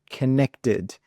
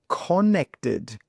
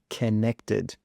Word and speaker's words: connected: So for example, connected, but a lot of students would say connected, but this O here is not an O sound, it's an sound. Okay, connected.